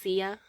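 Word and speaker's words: 夏: Yeah, it means summer, and it's pronounced Sia.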